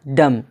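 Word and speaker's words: dumb: बाद बी आया है तो क्या पढ़ा जाएगा डम जिसका माना गोंगा याद रखने के लिए आप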